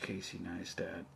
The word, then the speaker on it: Casey Neistat: this video this one video it's uh watch casey neistat and that's how you say his name and